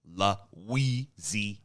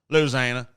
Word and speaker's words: Louisiana: because whatever, but like some people say it with 5 syllables like me, Louisiana, and other people it's just Louisiana. So it's 3. It goes that 5 to 3.